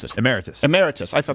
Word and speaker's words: emeritus: How do you pronounce it? Emeritus.